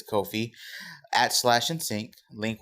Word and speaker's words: Ko-fi: So it's Ko-fi or Coffee, however you want to pronounce it, but I do believe it's Ko-fi at Slash and Sync.